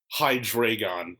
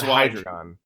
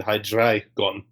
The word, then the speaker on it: Hydreigon: Okay, I've always pronounced it Heinz Hydreigon. Well, it's German numbers. It's Eins, zwei, drei. Oh, okay. Oh. So really it should be Hydreigon, but I say Dre because I'm American and we don't do foreign right.